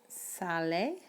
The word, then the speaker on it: sale: So in Spanish, you don't have the concept of a silent E like you do in English. So you're going to pronounce the E. Remember, the E is A in Spanish. So when we pronounce this word, it's sale.